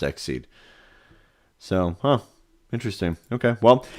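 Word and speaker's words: XSEED: and related materials so it is pronounced exceed so huh interesting okay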